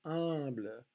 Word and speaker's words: humble: So notice in the word humble, we do not pronounce the M.